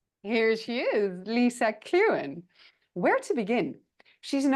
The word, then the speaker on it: Clughen: It's Clughen, but let me tell you that nobody in Britain would pronounce it correctly either. All right. Here she is, Lisa Clughen.